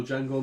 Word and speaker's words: Django: And the scene where he's at a bar and he's sat with a gentleman and he goes, "My name's Django," and he goes, "The D is silent," and the guy goes, "I know, that's Django, that's Franco Nero, that's the original Django."